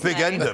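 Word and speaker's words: bigender: And I thought genuinely this was what it was, this was how you pronounce it, big ender. But it turns out that was bi gender.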